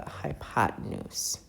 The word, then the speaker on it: hypotenuse: This is known as a length called the hypotenuse which is spelled as follows. So it's h y p o t e n u s e pronounced hypotenuse.